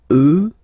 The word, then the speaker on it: eux: So the masculine form will change, and you get the sound remember, final X not pronounced, and then plural, elle, elle. Okay, so let's see them one more time. Moi, toi, lui, elle, nous, vous, eux, elle.